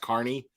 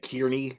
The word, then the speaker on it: Kearney: So since April 2023, Carney, I'm realizing that because I heard Turtle Boy say his own last name, and I think it's pronounced Carney. So I'm correcting that. I've been saying it Kearney this whole time because that's the way it's spelled, but it's pronounced Carney, I believe, just based on hearing him say it.